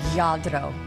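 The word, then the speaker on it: Lladró: practicing my spanish here yadro did i say it right you did rolling my r the spanish brand yadro is celebrating 60 years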